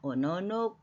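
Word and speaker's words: おのの: 이제 기본형이 오노노 두 번째 노에 액센트가 있습니다 오노노 부들부들 떨다 겁먹고 놀란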